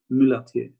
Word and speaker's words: Mulatier: Mulatier. Yeah, that sounds familiar. How do you spell it?